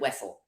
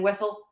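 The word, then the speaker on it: Wesell: I'd always pronounced it Jacob and I were both like we'd always pronounced it wesle we had no idea that anybody would pronounce it different than wessell um and so we keep asking people wesle or wiel and one person has said wasselle and everybody else said Wessel okay okay so like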